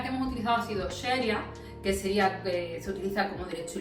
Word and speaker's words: Sharia: nos encontremos, puesto que en realidad es como una SH, sería Sharia. Sin embargo, si escribimos CH, por lo menos, por ejemplo, en Andalucía, si tendemos a pronunciarlo de esa manera, ¿no?